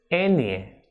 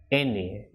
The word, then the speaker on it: ñ: N with this tilde is pronounced as Enie, as in niño, España, and albañil. So this will be Enie.